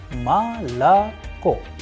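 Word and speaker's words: молоко: For example, the word malako, which is also known as milk, is pronounced as malako because O is not under stress, is going to turn into a sound of A. Please pay attention to the structure of the word malako. I am pronouncing as if the word malako has two A and at the end it has O.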